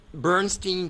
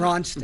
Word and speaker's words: Bronstein: Look, And, do you know when they closed Bernstein Park, is that how you pronounce it? Bronstein.